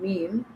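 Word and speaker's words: ميم: Then meme. Meme pronounced on the dry part of the lips, both lips.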